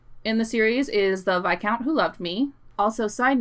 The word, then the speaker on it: viscount: my favorite book in the series is the vi count who loved me also side note i grew up pronouncing it viscount because i only read the word and only recently learned that it's pronounced by count like years of brazier yeah since the bi